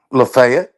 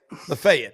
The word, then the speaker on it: Lafayette: How do How do you pronounce it down there, y'all? Locals. Lefayet. Lefayet. Okay. All right. Lefayet.